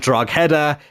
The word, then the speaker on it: Drogheda: I've heard Drogheda, I've heard Drogheda, it's Drogheda for any of you wondering. But he has joined the team in the League of Ireland for just over £100,000.